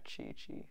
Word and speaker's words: Qi: So Qigong is a martial art, spelled Qigong, which is pronounced Qi, like the energy in our body.